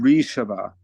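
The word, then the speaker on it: ऋषभ: Do you pronounce the R or the? Yeah, Rishabhya. Oh, Rishabha. Okay.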